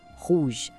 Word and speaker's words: rouge: Em francês se diz rouge. Presta atenção na pronúncia. Rouge. O R vem lá do fundo da garganta, sabe? E o final tem aquele somado que lembra a palavra garagem.